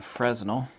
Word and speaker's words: Fresnel: can actually buy these this is a frontal or actually a Fresnel actually both pronunciations are okay I grew up seeing a Fresnel which is also accurate even if you go